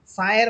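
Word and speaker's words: ث: অর্থাৎ আমরা যে সা হরফ বলবো এই সা হরফটা আমাদের জিহ্বার আগা অর্থাৎ জিহ্বার অগ্রভাগ সামনের উপরের দুই দাঁতের আগার সাথে লাগবে।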